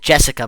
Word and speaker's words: JSCA: We may as well pronounce it Jessica, but this robot's official name is JSCA.